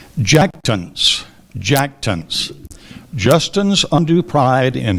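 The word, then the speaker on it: jactance: r i l i n g a l jackon jackon Justin's undue pride in his modest accomplishments takes the form of jackton jackton jackon are there any alternate pronunciation there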